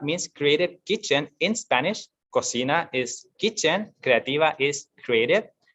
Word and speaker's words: cocina: And we don't pronounce it cocina, like some of my friends have said to me, cocina or coquina. It's cocina because it's Spanish.